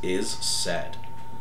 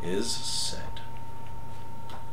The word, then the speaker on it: is said: real cool in here whose name is is said like like lowercase is lowercase said like a or s-a-i-d is said I'll read his bio